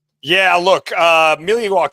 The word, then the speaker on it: Milwaukee: Look, uh, Millie Walk as is pronounced as Alangquin for the good land.